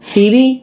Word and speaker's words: Phoebe: here from CB yet so the pH makes the F sound and both the stress and the unstressed syllables in this name have the same vowel that is the E vowel Phoebe Phoebe Phoebe yeah baby